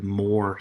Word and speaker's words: Moar: and some independent modelers spell the last word M o AR which would have the more sound instead of the vore